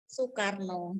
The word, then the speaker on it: Soekarno: gunakan ejaan lama ya suekarno tulisannya ya Tapi bacanya Soekarno tulisannya Solitaire no lalu